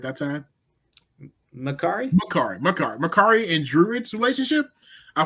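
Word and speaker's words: Makkari: appreciate I honestly really enjoyed Akari. Did I say it right that time? Makari.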